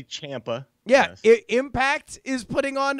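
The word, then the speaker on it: Ciampa: NXT champion in in Tomaso Champa uh impact pronounce that correctly Champa yes impact is putting on apparently amazing babe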